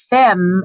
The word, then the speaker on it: femme: l f u l fem is spelled f e m m e that's the french word for woman so we call soulful